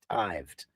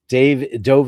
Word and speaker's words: dived: I had heard tell that dived was the correct way to say it, but it's like I don't like it. Dived, like, oh yeah, I don't like it. I don't like it. I object. Dove is American.